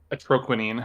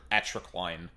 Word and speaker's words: Atroquinine: Yeah, I keep wanting to say atroquine. For some reason, the repeated IN is fucking with me. Because it looks like equine in your brain.